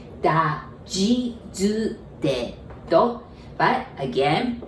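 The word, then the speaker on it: じ: Za, ji, zu, ze, zo. But be careful with this G. I know it's a Z-I, but we pronounce it like G, J-I, all right?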